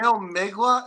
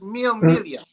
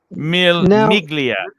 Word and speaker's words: Mille Miglia: Did you just say Mille Migla? It's Mille Miglia. Mille Miglia. The G is silent in Italian.